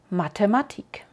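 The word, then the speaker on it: Mathematik: t en alemán y si la ves escrito con una H detrás el sonido no cambia es igual como en teat o matematic seguimos con ha ha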